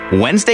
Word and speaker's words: Wednesday: what's up with Wednesday Wednesday is a bit odd just look how it's spelled what's with that D but Thursday Thursday is